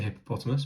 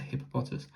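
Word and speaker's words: Hippopotas: I always want to say hippopotamus, but it's a hippopotus.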